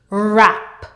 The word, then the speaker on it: wrap: WR WR word family the W is silent therefore you will say R let's go R app rrap r a rapper R